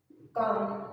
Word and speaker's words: calm: will give you some examples as it is calm okay it's calm it's not calm okay it's calm it's c